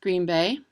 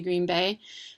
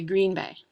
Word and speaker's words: Green Bay: The Packers come from this city, and then the correct pronunciation of this city is Green Bay. I'm going to Green Bay, but the national broadcasters will say Green Bay.